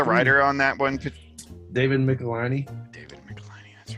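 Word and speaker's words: Michelinie: it was a kid i always pronounced it michelin which doesn't make sense even a little bit when you look at how it's spelled but hey we were from a small town we didn't know that we were gonna be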